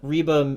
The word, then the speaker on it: Reba: dad what happened and they meet up with Reba reeba McIntyre I said it right that time somebody